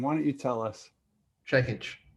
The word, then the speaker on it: Čekić: your last name why don't you tell us checkage checkage that's what i thought i probably said it